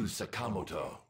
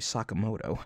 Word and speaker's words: Sakamoto: But to think it'd be you, Sakamoto. Excuse me? Excuse me? Can we play that back again? I thought it was some petty thief, but to think it'd be you, Sakamoto.